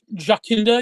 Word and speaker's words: Jacinda: manufacturing works yeah so jakinda Arden what do they call her mama jakinda is that really how it's pronounced Jacinda yeah I think so oh really I've been saying Jacinda okay good to know